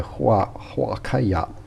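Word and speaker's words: huacaya: Wuka the H is silent.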